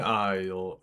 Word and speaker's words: isle: The most or most illustrious of them is Shaorath, who rules the shivering isle. I How do you pronounce that? The S in isles is silent.